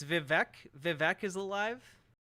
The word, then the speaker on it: Vivek: dude wait it's vivec Vivek is alive Vivek is his stage name oh God Vivek it rhymes with cake that's how you actually pronounce it okay so he's literally